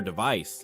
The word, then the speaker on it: device: For example, the word device is pronounced with a clear v sound and stress on the second syllable.